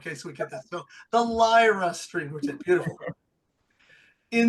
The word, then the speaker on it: Lyra: doing good great good did I pronounce it right lra or is it Lyra it's actually Lyra it is Lyra we've gotta get that